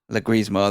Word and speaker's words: Leguizamo: I can't pronounce his name right. Leguizamo, that's it.